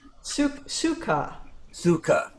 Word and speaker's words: sukha: Sukha.